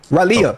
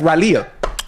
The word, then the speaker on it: Raleigh: That That's how you say it. How you say it again? You for real? But it's spelled R A L E I G H. Raleigh. That's Ralia.